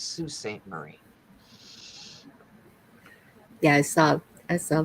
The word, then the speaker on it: Sault Ste Marie: love that thing and when you see how it's spelled most people go Salt St Marie no it's Sault Ste Marie yeah I saw I